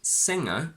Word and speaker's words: singer: So if I say singer, I need this sound because the word derives from sing with ng and er.